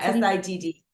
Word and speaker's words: Siddhi: And so the next step in that sequence is called the Siddhi, and it's spelled Sidhi. Is that correct? Yeah, Siddhi.